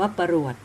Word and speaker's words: ปรวด: คือ ปรวด นะ คะ ปรวด ใน ตัว ข้าง ป ปลา ร เรือ ว แหวน ด เด็ก นะ คะ อ่าน ว่า ปรวด ซึ่ง อยู่ ใน ตัว